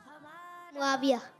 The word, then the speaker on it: मुआविया: मुआविया। अब स्पेलिंग पढ़ा है, अल्फ़ाबेट पढ़ा है सबको।